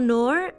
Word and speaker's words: Noor: Me llamo Noor, aunque en realidad se pronuncia como Noor, pero todo el mundo me dice Noor.